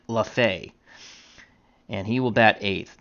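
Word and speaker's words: Lefebvre: will be Joe lafha I actually looked up how to pronounce this gentleman's name and it looks like lafay and he will bat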